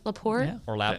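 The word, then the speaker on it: La Porte: Laporte is that how you say it yeah Laporte right down there around Texas city and Galveston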